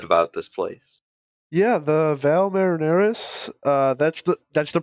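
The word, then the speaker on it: Valles Marineris: a little bit about this place yeah the Val marineris uh that's the that's the pronunciation in the audio book don't add me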